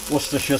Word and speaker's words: Worcestershire: if I don't put a little bit of Worcestershire sauce in it don't try saying that when